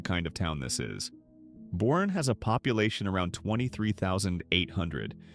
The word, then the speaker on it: Boerne: It's Boerne, by the way. Not Bone, not Born, Boerne.